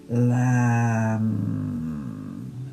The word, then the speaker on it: lam: And then we'll use the one syllable Sanskrit mantra that goes with the chakra which is lamb. And the m is a very deep m.